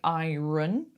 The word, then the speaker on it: iron: Iron. So don't pronounce the R. We don't say iron.